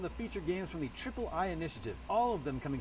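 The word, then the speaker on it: Triple-I: partnering with called the Ayayay Initiative. Yeah, I'm pretty sure it's pronounced Triple I. You know, like AAA, but with I for indie.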